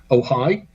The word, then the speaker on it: Ojai: That's in California on the 15th of July at Libya Bowl in, I think it's pronounced Ojai, O-J-A-I.